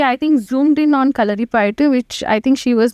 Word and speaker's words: Kalaripayattu: How do you pronounce it? Kalari Payattu. Kalari? Kalari. Kalari? Okay. Kalari Payattu.